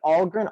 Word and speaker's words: Ahlgren: So Ahlgren. Ahlgren is spelled Ahlgren. And it's pronounced Ahlgren like a smile.